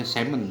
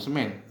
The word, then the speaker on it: semen: Kemudian kelenjar tambahan juga ada kantong semen, itu bacanya semen ya, jangan semen, vesica semenalis.